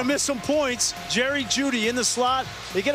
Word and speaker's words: Jeudy: Jerry Jeudy, the E is silent.